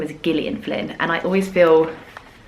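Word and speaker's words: Gillian: She pronounces her name as Gileian Flynn. And I always feel weird not pronouncing it how she pronounces her own name, if that makes sense. Whereas in England, we pronounce this with a soft G.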